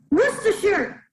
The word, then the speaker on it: Worcestershire: of british place names because it is pronounced worcestershire worcestershire sauce from worcestershire uh